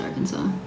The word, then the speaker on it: Arkansas: up Arkansas just kidding I know it's pronounced Arkansas uh my teeth I